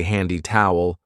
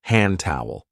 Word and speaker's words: hand towel: We don't usually say handy towel. We link it and we say hand towel.